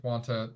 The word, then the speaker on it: junta: Hitler is assassinated, and a military junta is established. Is that how you pronounce that?